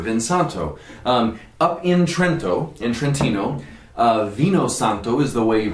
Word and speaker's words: vino santo: called Venus antler vinsanto up in Trento Infantino vino santo is the way you pronounce it in in tuscany you'll find it